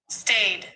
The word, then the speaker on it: staid: Let me see how it's pronounced. Stayed. Okay. But Ada, that Yuda, that's aid.